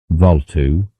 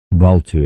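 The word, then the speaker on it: Bvalltu: old man for help valtu for such approximately was the Philosopher's name the being pronounced more or less as in Welsh baltu affected Aur by merely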